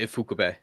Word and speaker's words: Ifukube: Yeah, Ifukube.